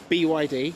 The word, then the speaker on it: BYD: Is it just by the initials or So, BYD.